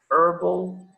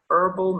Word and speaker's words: herbal: tree aroma therapy okay herbal medicine furball in this case the h is not pronounced herbal medicine chiropractic this is